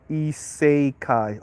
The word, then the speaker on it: isekai: hmm Harold George said say it like isekai okay isekai okay okay thank you Harold George E say Kai GC says thing is